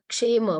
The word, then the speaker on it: kshema: Okay, what we are doing is we are just reading it out according to this kshema. Okay, this K is silent. Kshema.